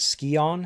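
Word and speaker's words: Scion: So, the story in this one is basically you're looking for these uh three pieces of the ski is it skion?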